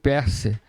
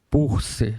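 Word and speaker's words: Peirce: Esse americano é o PER que se escreve Pier, né? Charles Perse ou Charles Purse, que é a pronúncia certa.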